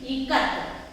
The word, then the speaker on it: ikat: So pronunciation is I as in it. In it we pronounce I like E, not I. Ice cream, we don't pronounce it like ice cream, I. We pronounce it like it, E.